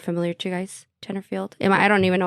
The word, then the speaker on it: Tenterfield: familiar to you guys Tenterfield am I don't even know if I'm saying that right no that sounds right probably the one thing in Australian that's pronounced how it's said pronounced how it's written okay good all right